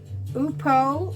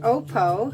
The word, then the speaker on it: upo: chicken, and of course our upo or opo, depending how you say it, our opo squash.